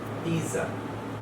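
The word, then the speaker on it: Pisa: যদি শব্দের মধ্যে দুটো ভাওয়েল থাকে এবং তার মধ্যে এস বসে, তাহলে উচ্চারণের নিয়মটা আবার পাল্টে যাচ্ছে, তখন উচ্চারণটা হবে সি। সেই কারণে যে বিখ্যাত শহরটা আপনারা দেখতে পাচ্ছেন ছবিতে, সেটা হচ্ছে পিজা, lining tower of পিজা।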